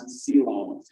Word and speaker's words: coelom: That word is pronounced coelom, and that's where a lot of your organs actually are.